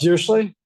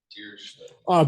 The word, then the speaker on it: Dirichlet: Sorry, how do you pronounce that? I've seen it written so many times. Dirichlet? Dirichlet. But that's probably not, it's probably Dirichlet or something like that. If I pronounce it one way, it's almost surely wrong.